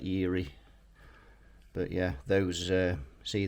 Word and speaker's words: Erie: i think that's pretty i pronounced that eerie but yeah those uh